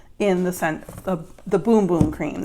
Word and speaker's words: Bum Bum: the scent of the Boom Boom Cream. It's spelled Bum Bum, but it is Boom Boom Cream, and this is so amazing.